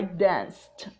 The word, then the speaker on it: danced: So, when the ending of a verb is unvoiced, which means no movement of vocal cords, you pronounce the ed as t, like danced, worked, kissed.